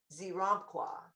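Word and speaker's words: Xeramqua: Well, this is the angel of the Z key, and his name is spelled like this: X, E as in Edward, R, A, M as in mom, Q, U, A, Zeramqua.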